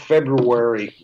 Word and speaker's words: February: the with the month february i make sure i pronounce both ours because there's two dmrs